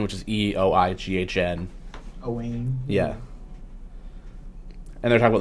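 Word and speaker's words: Eoghan: But pronounced Siobhan, or like Owen, which is Eoighn. Owen.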